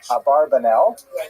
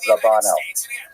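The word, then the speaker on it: Abravanel: I should mention by the way many people pronounce the name uh Abarbanel and that's because of the uh it's much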